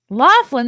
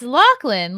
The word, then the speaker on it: O'Loughlin: It's so funny though that people pronounce our name, like my mum and I, O'Loughlin. Laughlin. There's no F anywhere. I know. It's Lachlan, like Sarah McLachlan.